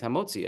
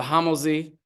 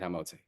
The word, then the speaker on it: hamotzi: things than Uncle Jaime's hamotzi at your wedding. Right? And they don't say it correctly. The hamozi.